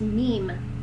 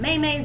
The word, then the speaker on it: meme: I've always pronounced it GIFs, and I pronounced meme. That's how I pronounce meme. I'm curious if other people pronounce it differently. I know somebody called them maymays and memes and Meme-al noodle blah, blah, blah, blah. Memes is what I call them.